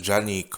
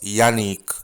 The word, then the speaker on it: Janeek: this young lady is her name is actually pronounced yannick according to uh her school website but it is underestimated